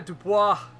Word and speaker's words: Dubois: Come here, Dubois. That's how you pronounce it.